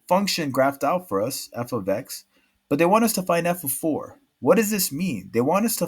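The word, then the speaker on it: f(x): F of x, pronounced as this, f of x, not multiplication.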